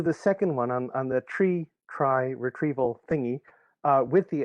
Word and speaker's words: trie: implementation of the tree steve did i pronounce that correctly or is it try most folks around here pronounce it try i was uh a student of the inventor of it and he pronounced it tree that one the t-r-i-e